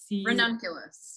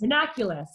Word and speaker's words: Ranunculus: You spell it? What's that? R-A-N-U-N-C... Ranunculus. Ranunculus, thank you.